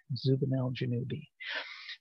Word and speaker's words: Zubenelgenubi: song so it because it rhymes with uh obi ben kenobi zubanel janubi um but we'll get